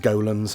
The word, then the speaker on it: Golem: okay I want to address it should be pronounced golens I know but I always pronounce it Gollum because I'm stupid there we go um we